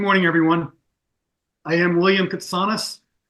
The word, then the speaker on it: Ktsanes: I am William Ktsanes, pronounced with a soft T and missing a vowel that was lost when my grandfather arrived at Ellis Island as a teenage immigrant.